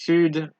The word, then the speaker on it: sud: However, there are a few exceptions, just a few, such as sud, cap, slip, fils, bus, brut, ouest, huit.